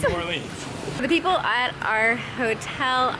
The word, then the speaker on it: New Orleans: I'm saying it right, Nolans. New Orleans? New Orleans.